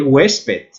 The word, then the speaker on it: huésped: Na letra C, a única palavra que requer acento é huésped. É uma palavra que apresenta um diptongo, UE. A sílaba tônica está na E, portanto, tem que seguir a regra geral de acentuação.